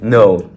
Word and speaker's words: know: like I know this no uh K N O W but S this this this this K is not is not pronounced it's silent but uh this kind